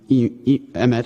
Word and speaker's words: EMET: So technically, EMET or EMET, I pronounce it two different ways, however I'm feeling, it is considered end of life.